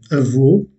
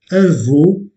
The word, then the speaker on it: avô: Au nom dont la voyelle tonique est le O fermé, comme dans avô, remarquez que je ferme le O, ou je ferme la bouche pour prononcer un O fermé. Avo, voulant dire grand-père.